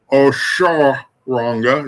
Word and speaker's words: Oshoronga: That Oshun Oshun Ronga, Oshun Ronga. Oshun Ronga is how it's pronounced.